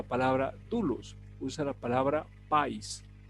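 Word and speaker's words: παῖς: la palabra muchacho aquí en griego se dice país no país con acento de ahí sino por acento en la país y la palabra país efectivamente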